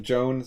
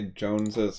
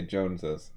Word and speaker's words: Jones's: so if you say Jones's favorite cat, When you pronounce it, you need to add the es so that people can tell there's a possessive there.